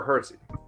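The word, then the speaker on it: Hersey Hawkins: It's spelled, is it Hershey or Hersey? Hersey. Well, it's spelled Hershey. Yeah. I think that's how it is, right? Yeah. Yeah. It's Hershey without the H.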